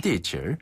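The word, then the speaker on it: 地址: 질과 칠 뭐 중간 발음인가요? 네, 중간 발음. 네. 이게 좀 어렵네요. 네. 地址.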